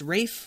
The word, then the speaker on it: Ralph: His name looks like it's spelled Ralph, but we find out that it's pronounced Rafe, like Ray Fiennes.